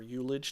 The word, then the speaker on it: ullage: Here we have a place to enter in our percentages for ullage or ulage, depending on how you like to pronounce that.